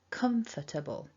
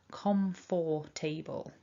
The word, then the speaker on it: comfortable: it's weak is because syllable one is the stressed or strong syllable come comfortable so turbo not table